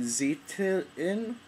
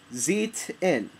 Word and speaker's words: Zeitlin: Wild, directed by Ben Zeitin. I can't pronounce the name. Zeitlin. There's an L there.